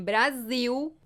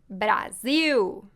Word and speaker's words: Brasil: Mas quando esta letra está no final, se pronuncia U, como em Brasil, Brasil.